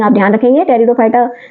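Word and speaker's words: Pteridophyta: टेरिडोफाइटा की pronunciation T से शुरू होती है। लेकिन पी जो है यहां साइलेंट है।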